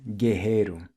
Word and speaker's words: guerreiro: And guerrero or warrior in Portuguese is guerreiro, the double R is pronounced with an H sound.